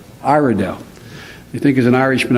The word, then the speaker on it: Iredell: And am I pronouncing right, Iredell? Iredell.